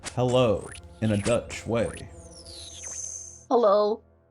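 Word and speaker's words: hallo: how do you say hello in Dutch?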